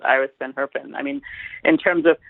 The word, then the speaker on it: Iris van Herpen: And so they, and it's actually, I keep forgetting, it's Iris Van Herpen is how you say her name.